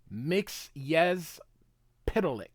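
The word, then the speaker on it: Mxyzptlk: um fan site so here it is it's pronounced mix yes pic mix Mr mix yes pic all right let's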